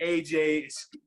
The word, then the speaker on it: Agyei: It's always the pronunciation of the name, right? You hit it right. Hit it right on. Okay, Agyei.